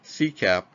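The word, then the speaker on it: SCAP: security content automation protocol or SDAP pronounced C CAP is a technology used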